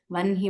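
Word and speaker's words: वह्नि: So you will also see this in Vanhi, Vahni Mandala Madhyaga. You will say Vanhi Mandala Madhyaga in Lalita Sahasranamam as well.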